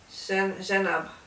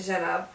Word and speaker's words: Zenaib: I don't think you pronounce the I. Z-E-N-A-I-B. Zainab.